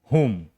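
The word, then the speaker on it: whom: ठीक है, यहां पर भी देखिए स्टार्ट हो रहा है WHO से, W क्या हो जाएगा, साइलेंट। क्या पढ़ेंगे, हुम।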